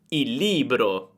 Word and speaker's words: il libro: Ma se abbiamo una parola che inizia con una L, dobbiamo unire l'articolo alla parola e pronunciamo solo una L. Per esempio, il libro.